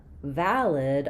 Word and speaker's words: valid: So in valid, our stress is on the first syllable vow, which means we have the clear a vowel like in cat or valley for the for the letter a.